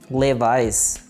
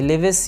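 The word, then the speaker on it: Levi's: Next हमारे पास brand name है लेवाइस। ये लेविस ये कुछ और नहीं है बल्कि है लेवाइस, लेवाइस।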